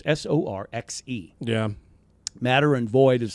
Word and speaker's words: Sorcha: Sorcha. I believe its pronunciation is Sorxe.